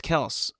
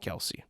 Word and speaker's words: Kelce: in during the game, it's always said Kelce, Kelce, Kelce, Kelce. But, and I'm thinking, like, if you're Travis Kelce and it's like, no, it's Kels, like, wouldn't you tell them that?